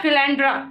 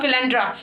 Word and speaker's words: philanderer: क्या, फिलैंड्रा। ठीक है, इसकी स्पेलिंग क्या है, PHILANDERER। ठीक है, इट्स कॉल्ड फिलैंड्रा।